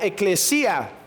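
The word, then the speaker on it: ἐκκλησία: logía viene de una palabra griega que se pronuncia ekklesia que quiere decir los que son llamados fuera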